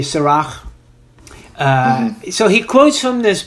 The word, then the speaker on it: Sirach: Well, I would say if it's Hebrew, it's going to be Sirach.